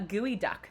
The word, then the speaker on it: geoduck: I don't know why it's called gooey duck, and it's spelled geoduck and pronounced gooey duck.